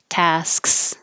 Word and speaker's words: tasks: So while I'm making my S, my tongue goes up for my K. Tasks, and just quickly makes a k. Tasks and interrupts the airflow.